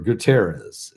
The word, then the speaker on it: Guterres: the united nations antonio gutenez or guterres is how you say his name anton antonio guterres he